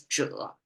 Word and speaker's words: 者: called 者, pronounced as 者. And just now, it's a revelation to me. This 者 can be translated as this AI age agent concept. And it almost like 者 sounds like agent as well.